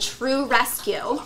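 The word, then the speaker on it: TRU Rescue: The charity we're working with this quarter, they are called True Rescue. True Rescue. Yes, and that's spelled TRU, and it stands for They Rescued Us.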